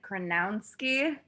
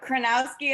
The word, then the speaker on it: Chronowski: glad you did um I've heard so many different pronunciations of it tranowski for some reason people like to add another n in there and say like kranowsky but kranowski is correct it's like start with Crow that's what I always